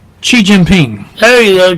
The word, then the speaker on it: Xi Jinping: It's Xi Jinping. There you go, Xi Jinping. My Chinese isn't that good. Oh, yeah, but once you get started, but boy, the you're XI is pronounced Xi.